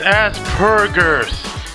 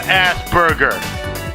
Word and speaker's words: Asperger: word such as asperger it's as burgers as burgers not asperger you're saying it wrong maybe that's why it